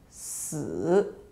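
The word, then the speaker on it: 死: Number four in Chinese is pronounced as si. Another Chinese word which means death is pronounced as si. So the pronunciation is exactly the same apart from the tone.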